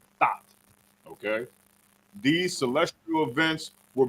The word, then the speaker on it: Thoth: It's spelled like thought, but with an H at the end. Thoth.